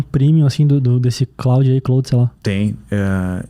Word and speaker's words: Claude: ele é francês daí tu que sabe falar francês me falaram assim ah isso aqui tem que falar clou é se é Claude